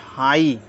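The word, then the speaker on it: high: H silent देखते हैं जी और एच साइलेंट रहेगा जी एच साइलेंट रहेगा इसको समझ लेते हैं एच आई जी एच हाई एस आई जी एच साई टी एच आई जी H Thai फाइट एफ आई जी एच टी फाइट राइट site टाइट मतलब जी एच को हम बोलेंगे नहीं अगला है आपका डी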